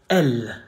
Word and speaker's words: elle: You say elle. Not elle, not elle, not il, elle. Elle. Elle. The double L is actually pronounced slow.